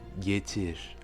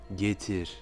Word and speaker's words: getir: On dira donc getir, getir. Vous voyez que le R est très légèrement roulé, même presque comme un léger sifflement, getir.